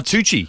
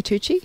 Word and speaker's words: Tucci: Oh, Tucci. Yeah, Tucci.